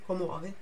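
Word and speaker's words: commuove: bem venuto que comove Ah esse tem dois é só dar uma forçadinha a pronúncia da dupla é só pegar um pouquinho mais naquela sílaba que tem a consoante dupla então é como mover em vez de ser como over comove é comum é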